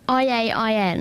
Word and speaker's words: Iain: I-A-I-N. Yes, I do. Iain. Well, no, that's not... Well, that because it's a silent I.